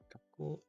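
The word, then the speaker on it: 学校: Gakko.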